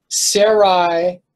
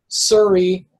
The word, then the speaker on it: Sarai: Likewise, you have Sarai and Sarah. It sounds very similar. I pronounced it originally as Suri and Surah.